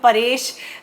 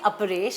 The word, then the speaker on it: अपरेश: दे इदर call him Arpesh और they call him परेश। एंड it's actually अपरेश।